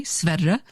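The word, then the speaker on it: Sverre: s-v-e-r-r-e he's named after a king of Norway sveda and um everybody calls him Stam because because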